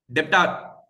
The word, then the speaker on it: debtor: Debtor. Say debtor it is. Debtor it is. B is silent.